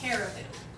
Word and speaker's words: caribou: facts about reindeer or carabao that I cannot wait to share with you. I think it's caribou. Reindeer and caribou. That's how you say it. I know it. Yeah, it's caribou. Okay, caribou.